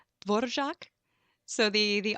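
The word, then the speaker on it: Dvořák: said dvorak love songs and I probably mispronounced dvorak how'd how would you pronounce it right its board of shock so the the r has sort of a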